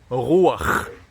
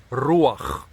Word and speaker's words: רוח: In the Hebrew language, that word is ruach. Some pronounce it with a hard r, ruach, okay?